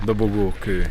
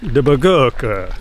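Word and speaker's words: Dobogókő: In the forest, trekking up to the top of Dobogoko. How do you say it? Dobogoko. Dobogoko.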